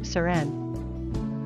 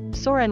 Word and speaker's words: Soren: to it being pronounced Sør-en. But with a plain old English O, Sorren would actually be the correct, and more English speaker-friendly, pronunciation.